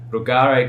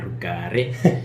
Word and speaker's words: Rugare: Rugare, you've really got to roll the R. You have to roll the R. Rugare is my name.